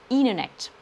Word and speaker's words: internet: pourquoi pascal angles américain lorsque vous avez un n suivi d'un thé le thé disparaît au profit du n donc internet va donner il est net la piscine c'est swimming